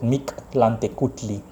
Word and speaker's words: Mictlantecuhtli: It's hilarious because it's a challenge to pronounce it, but I can still pronounce it. Mictlantecuhtli.